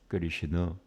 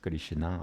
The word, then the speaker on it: Krishna: But even after 500 years, nobody really says Krishna. Everybody says Krishna, which is a totally different word.